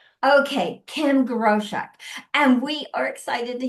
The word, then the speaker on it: Groshek: uh Kim Grochek. Okay. Kim Grosk and we are excited to hear her story and Kim just inspire all of us.